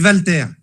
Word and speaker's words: Walter: Non. Non. Bruno l'a bien prononcé tout à l'heure. On dit Walter.